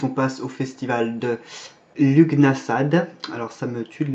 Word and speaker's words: Lughnasadh: dire comme ça, mais on le prononce à la française, Lughnasadh. Ça c'est du gaélique. Alors la graphie que vous connaissez ou qu'on voit le plus souvent, c'est une très ancienne graphie. En fait c'est l'une des premières je crois qu'on a pu retrouver dans la littérature irlandaise. Donc c'est du gaélique irlandais et ça se prononce en fait Lunes.